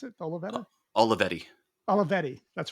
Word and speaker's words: Olivetti: That with that Olivetta that you have, is that the right way to pronounce it? The Uh, Olivetta, Olivetti.